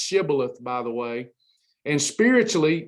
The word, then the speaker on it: Shibboleth: And it's actually pronounced Shibboleth, by the way.